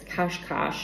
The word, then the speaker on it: Cascais: And I was just in Cascais, which to me, it looks like it's spelled Cascade, but it's Cascais or Cascais. It's really kind of hard to say.